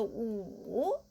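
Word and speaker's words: 五: And the wu, okay, we have this wu. How to pronounce this, right? Wu, okay, because we know this, just like a room.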